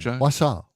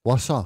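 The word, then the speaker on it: Wausau: to Wasau Haven you Wasau Wasau was kind of sounds kind of rhymes with rhymes with croissant wasant was the way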